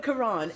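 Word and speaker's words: Ka'Ron: So Karan, as a young entertainer, you've been firsthand uh you know or and you've seen firsthand rather how music impacts society.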